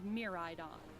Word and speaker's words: Miraidon: dragons these are the legendary pokemon corridon and miraidon you'll rely on one that's how you pronounce them in your adventure climb on and